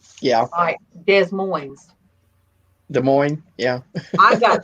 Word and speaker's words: Des Moines: at the conferencing center not every S is pronounced yeah I Des Moines Des Moines yeah I got told that one